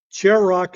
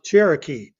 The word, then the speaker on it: Cherokee: not familiar with and had no idea how to pronounce Cherokee and pronounced it phonetically as Cher Rock because the rest of